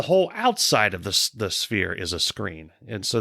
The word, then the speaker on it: Sphere: you think it means I don't think that's how you pronounce it it's spear spere sphere it's the sphere fear yeah so what